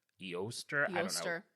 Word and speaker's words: Eostre: It's Eostre. It's like Easter, but Eoster.